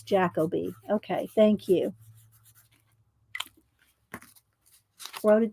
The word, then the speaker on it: Jacobi: It's Jacoby.